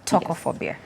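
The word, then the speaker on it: Tokophobia: Tocophobia. I hope that's the correct pronunciation. Yes. I didn't actually know there is like legit fear Yeah. of vaginal birth. Tocophobia.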